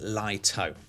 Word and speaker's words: Lito: This is the DJI Lito series, pronounced Lito.